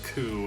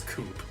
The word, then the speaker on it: coup: on the fact that zero wildly mispronounces the word coo and pronounces it as coop like a chicken coop i wonder if this